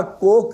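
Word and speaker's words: Coke: और कुक की तो किंग की बड़ी ज्यादा ये लिखा कोक की तरह जाता है, प्रोनाउंस कुक होता है।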